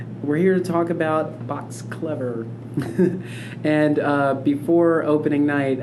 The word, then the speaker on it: Box Clever: calls saying, "Oh, yeah, I won two tickets to Box Cleaver." And I'm like, "It's Box Clever." And it's spelled Clever, but I think it's the phrasing of it.